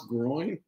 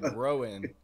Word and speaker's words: groin: Well, I was laughing because how did you pronounce groin? Groin. Okay. Is that groin? What did I say? You're saying like growing.